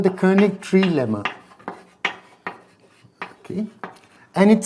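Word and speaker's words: König: you know if we couldn't pronounce a Hungarian name wrong so it this is called the kic tree Lemma okay and it says that suppose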